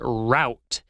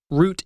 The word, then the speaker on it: route: We also had the word route, or as Elsie said, route. Route is the British pronunciation and route is the American.